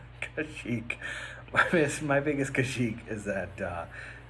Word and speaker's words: Kashyyyk: And my biggest critique was that It's pronounced Kashyyyk. Kashyyyk.